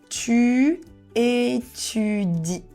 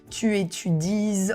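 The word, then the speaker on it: tu étudies: er with the two you will write e s but the s is silence so you cannot say for example tu éudes or something like that we will just say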